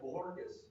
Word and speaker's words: Bojorquez: If you turn the J into an H, it's Bojorquez.